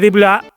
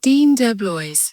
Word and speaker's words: Dean DeBlois: Lo curioso es que Deep Blue, yo no sé si Deep Blue se pronuncia así. ¿Y si se pronuncia Deep Blue y yo me estoy aquí haciendo el chulo? Dean DeBlois.